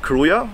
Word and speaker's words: Krujë: Krujë, yeah, we pronounce it Krujë. In fact, it's K-R-U-J-A. The J is silent.